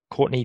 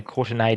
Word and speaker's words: Courtenay: their first name is Courtney Dempsey. Oh, yes. Courtenay Dempsey, sorry. Yep, that's actually very important that you pronounce that A for the purpose of this conversation.